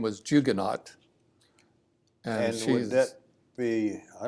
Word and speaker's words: Huguenot: Huguenot, you said. Yeah, Jugonaut. Huguenot, yes. Yes, French. Okay. As we pronounce it around here, it's probably Jugonneau, but in Southern Ohio speak, it's Jugonaut.